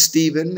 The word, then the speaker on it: Stephen: Yeah, it is Stephen. It's pronounced Stephen, even though it's spelled with a P-H.